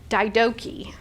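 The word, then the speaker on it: Didache: the daidachi and so last week i thought i wonder if i pronounced that correctly so i actually went through and listened to like 17 videos on how to pronounce it and what i thought was very interesting was in british english you were supposed to pronounce this word daidoki and this was very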